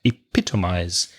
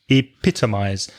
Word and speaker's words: epitomize: I just said it epitomize epitomize stress the second syllable epitomize as a verb